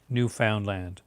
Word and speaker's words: Newfoundland: The only thing about Newfoundland accents is that land is always pronounced pretty hard. Newfoundland.